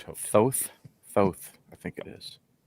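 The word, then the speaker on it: Thoth: According to Cambridge, it's uh like oath but th out front.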